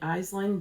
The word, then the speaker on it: Aisling: It's a 3-ply BFL from, and we were saying Aisling, but you know the correct Aisling.